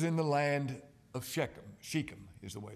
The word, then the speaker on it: Shechem: now this was in the land of shechem sheikham is the way it's pronounced sheikham and this is not where god told jacob